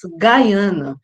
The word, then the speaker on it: Guyana: república cooperativa de gayana então eu pronúncia em inglês Gaiana aí só para marcar a diferença em português um de